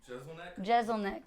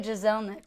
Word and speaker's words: Jeselnik: say his last name Jeselnik Jeselnik I always say Giselle Nick which is not correct yeah I feel like